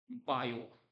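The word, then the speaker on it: Biot: of electric current is बायो T silent होता है इसमें सीजीएस यूनिट की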